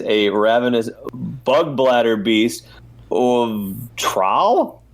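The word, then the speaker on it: Traal: ravenous bugblatter beast boom trowel is how you say that oh yeah I think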